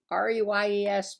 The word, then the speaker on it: Reyes: By the way, my name is Reyes, pronounced Reyes.